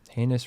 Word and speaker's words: heinous: Heinous rhymes with anus too.